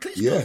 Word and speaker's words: Klitschko: got a plan until they get hit and Klitschko no you said it right yeah you said